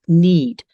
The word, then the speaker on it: NEID: engaged International donors or neid we pronounce it need right because we're responding to a need in society and all the information